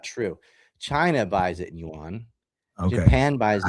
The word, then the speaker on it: yuan: China buys it in yuan. Okay. Japan buys it. How do you say the currency? Yuan. Like, okay. Yeah, it sounds like yen, I guess.